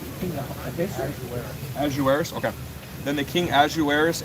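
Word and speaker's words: Ahasuerus: Then the king Ahiserus answered and said unto Esther the queen, how do you pronounce it? Azueris.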